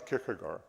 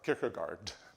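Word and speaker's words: Kierkegaard: uh that Saurin Kirkagar um no I should say Saurin Kirkagard that's how we pronounce it here right not this Danish pronunciation how would they know how to pronounce the name in their own language um in in one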